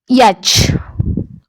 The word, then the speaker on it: yacht: Race करिबा बा भ्रमण करिबा, रेसिंग ट्रैवल करिबा, रेस करिबा, आनंद मिलिबो जोथुरु rhymes with caught, सेटा कोन कहंती ताकू? 7 नंबर टा yacht।